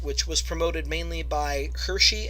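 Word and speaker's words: Hirschi: was promoted mainly by Hershey and godfredson that's how their names are pronounced states that it's poor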